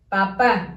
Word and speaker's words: papá: Papá, las pancitas en la misma línea, acento en la última A, porque si no dijera papa, ¿verdad?